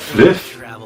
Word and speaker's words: Fliff: Da spricht man doch nicht Fly aus, du Vollidiot. Das heißt Fliff. Fly for fun.